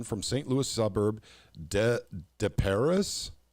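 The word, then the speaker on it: Des Peres: St Louis suburb de de Paris I I don't know how to pronounce that uh well not go ahead depair okay gotcha it sounds very French French okay uh he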